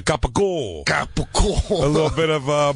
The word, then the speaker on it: capicola: You got to do the Italian. It's a capicola.